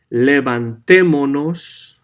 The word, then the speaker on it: levantémonos: So, levantémonos, as you can see, the S is gone. We have nos attached to the verb and an accent on the E, which is the third from last vowel.